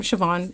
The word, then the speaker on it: Siobhan: Irish names are weird, bro. None are spelled how they're pronounced. I looked them up. Haha. Yeah. My name, Siobhan.